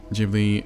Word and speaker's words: Ghibli: Studio Jibli is properly pronounced gi jibbery or jibli or in Japanese starting with a soft g like jelly where the name while